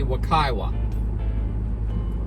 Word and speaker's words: Wekiwa: springs to the campground we stopped and asked another ranger and i guess the pronunciation is supposed to be wakaiwa so we're on the